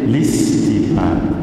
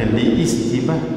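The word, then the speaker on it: لاستباحة: Bacanya listibah, jangan baca liistibah. Walaupun di sini ada hamzah, sepatutnya tapi tidak disebut.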